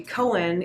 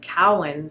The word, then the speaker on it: Cowan: So my last name is not actually Cowan, it's Cowan. So Cowan. Think of a cow and then Ann.